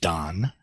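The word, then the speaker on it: 旦: So it's fairly easy to remember its pronunciation because it's pronounced dan, and it means dawn.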